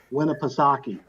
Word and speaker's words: Winnipesaukee: Winnipesaukee.